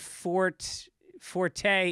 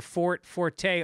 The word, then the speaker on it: forte: However, the use of forte is a translation from Italian, which is pronounced with the E, strong E. So people who correct the pronunciation for forte are both wrong and